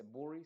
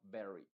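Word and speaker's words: bury: No se dice burry, sino berry.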